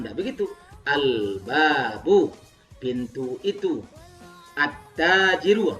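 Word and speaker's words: التاجرُ: At-tajiru. Bacanya at-tajiru bukan al-tajiru, bukan begitu.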